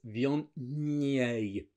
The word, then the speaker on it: Viognier: Viognier. La lingua tra I denti. Tongue between the teeth.